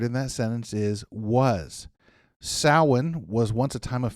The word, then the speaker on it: Samhain: Samhain was once a time of fear and dread.